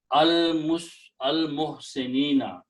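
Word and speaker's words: المحسنين: Okay, so it becomes, and then you pronounce this nina, muhsinina, al muhsinina.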